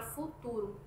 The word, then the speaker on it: futuro: da supressão de vogais, como por exemplo na palavra futuro, que em Moçambique, esta palavra ela é pronunciada com todas as vogais, enquanto no português de Portugal a vogal u da primeira sílaba da primeira sílaba é suprimida.